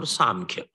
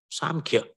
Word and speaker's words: Samkhya: Sankhya can be pronounced with N or M, Sankhya or Samkhya. Incidentally, both pronunciations make sense. When you pronounce with N, Sankhya or Sankhya, it refers to numbers. So Sankhya becomes a philosophy of 25 categories. There are 25 principles in Sankhya. And when you pronounce it with M, Samkhya, Samakhyati, right knowledge, knowledge which is liberating. So both words make sense there.